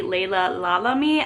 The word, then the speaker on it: Laila Lalami: The author's name is actually Laila Lalami. I've been pronouncing that wrong, so my apologies.